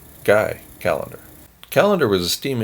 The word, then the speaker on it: Guy: scene now guy calendar probably pronounced his name ghee but he's not alive to correct me so i'm going to pronounce it correctly guy calendar calendar was a